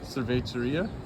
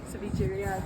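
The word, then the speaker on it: Cevichería: And then can you tell them more about the, I pronounced it wrong. Cerveceria? Yeah, so it's like 13 Cevicheria? Cevicheria, 13 different types.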